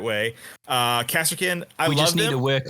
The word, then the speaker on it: Kasrkin: Kasrkin, we just need to work on Rhys's Legionnaires.